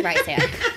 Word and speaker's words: Rysand: I think it's Rysand.